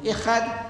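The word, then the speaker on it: אחד: And the difference between these two words is only the pronunciation. I would write Ahad, Alif, Ha, Da, Ahad in Arabic, meaning one and only. And to make it Ihad, on the Ha I put a dot, that becomes Ha.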